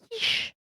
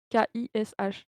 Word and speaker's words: Kish: C'est, la divinité titulaire de la ville de Kish. Voilà. Quiche? Comment Quiche, s'écrit ouais, quiche? comme, pas comme la quiche justement, Ouais, je me suis douté, c'est pour ça avec que je avec un K.